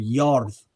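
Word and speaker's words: Jörð: It's almost very similar to the usage of the word Yarth, or it's spelled Jorth, the goddess of the earth.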